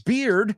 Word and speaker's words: beard: Laura says beard rhymes with cheered.